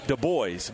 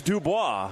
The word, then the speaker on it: Dubois: led by aasco dubo now some people Greg May pronounce that deboy but it's Dubois dubo it's Dubois he averages 20.9 points